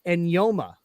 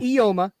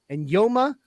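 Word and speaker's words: Eyioma: It's not spelled that way, but his name is pronounced Enyoma. Okay. Not Ioma. Enyoma Uwazurike. Okay. There's somehow, I don't know, the Afrikaans language between that E and that Y. There's an N sound.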